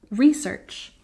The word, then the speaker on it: research: its stress is that in American English most often we put the stress on the first syllable research and we can